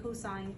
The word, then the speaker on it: cosine: did not um so even though they're abbreviated as s-i-n and c-o-s we still pronounce them as sine and cosine just like t-a-n is tangent uh these two formulas